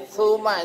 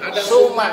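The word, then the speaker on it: ثم: Yang benar adalah TSA. Suma. Bukan suma. Suma itu S biasa itu, salah. Ya sekering Ya, ada imam yang baca bacanya pakai TSA, suma, bukan suma. Suma itu S doang.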